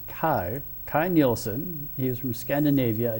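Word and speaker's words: Kay Nielsen: This was illustrated by, I believe his name is pronounced Kai Nielsen.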